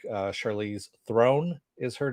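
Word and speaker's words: Theron: And they said it sounded like throne, so that's what I want to throw out there.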